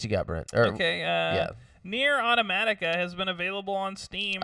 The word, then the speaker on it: Automata: Nier Automata has been available on Steam. Automata. Oh, is it Automata? I'm sorry. I don't know why I want to say Automatica.